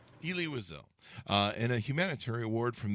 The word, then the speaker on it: Elie Wiesel: Do I have that right on the pronunciation? Elie Wiesel. Elie Wiesel.